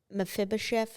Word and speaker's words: Mephibosheth: about when he was talking about legacy was Mephibosheth.